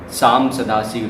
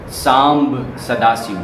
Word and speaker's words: सांब सदाशिव: सबसे पहले उठकर हमें शाम सदाशिव, शाम सदाशिव, शाम सदाशिव, शाम सदाशिव, इसका सही उच्चारण सुने, सांब सदाशिव, सांब सदाशिव।